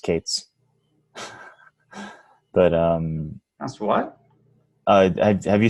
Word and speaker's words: K3s: are focusing on minimalism, like K3S, pronounced Kates.